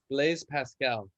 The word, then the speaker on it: Blaise Pascal: Blaise Pascal.